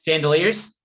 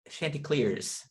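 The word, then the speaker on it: Chanticleers: know what they are chandeliers the white chandeliers no that's not how you say it i know go slow carolina shanty clears yeah it's weird yeah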